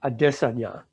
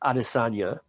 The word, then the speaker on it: Adesanya: adesanya they used to all the announcers used to pronounce it adesanya because they didn't they didn't know him they knew how to pronounce it then he became the champion at his weight class he's a ufc fighter he became the champion in his weight class now of course they learn how to pronounce it properly but he was talking